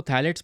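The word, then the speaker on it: phthalates: अब इसको थैलेट्स pronounce करेंगे।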